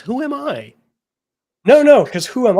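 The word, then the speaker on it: whoami: also look who Am who pronounces it that way it's who am I no no because who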